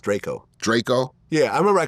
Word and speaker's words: Drakeo: son Lov dra Yo's music I think it's pronounced Draco Draco yeah I remember I called him drao once and he was like Draco Draco it is Draco let me it's spelled